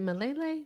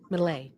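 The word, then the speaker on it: Milei: Is it Malele? Male. How you say his name? Liv. I want to make sure the Argentinean president Malay. Malay is Malay. So Malay.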